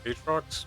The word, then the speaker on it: Aatrox: Aatrox.